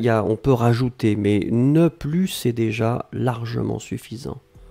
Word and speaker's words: ne plus: ne et ensuite plus et là on ne prononce pas le s ne plus d'accord je n'en avais